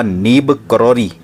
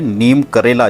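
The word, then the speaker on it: नीब करौरी: लेकिन बहुत से श्रद्धालु उनके नाम का गलत उच्चारण कर रहे हैं। नीम करेला, जिसको कि एक बुरे गुणों के रूप में माना जाता है, उस तरह से उनका नाम नीम करेला से मिला करके नीम करौली कह रहे हैं।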